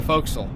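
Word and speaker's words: fo'c'sle: This is called the the folks folks which if you spell it out in traditional way is for castle but you shorten it to folks because and you can blame the Royal Navy for that.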